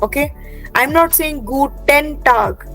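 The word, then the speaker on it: Guten Tag: so like you have to से गटन गटन don't say गुटन ट्राई टू से गूटन गटन टग सो द इ एन you have to kind of ईट up while speaking okay गटन टग गुटन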